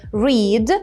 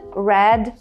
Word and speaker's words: read: полягає у тому що воно пишеться однаково в усіх трьох формах проте вимовляється по-іншому запам'ятовуйте read red red so Pay attention and